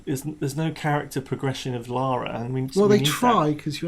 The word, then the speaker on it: Lara: Americans, her name is Lara, not Laura, okay?